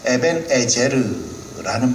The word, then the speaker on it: 에벤에셀: 그래 에벤에셀 히브리어 발음으로 하면 에벤에르라는 말이 되어집니다.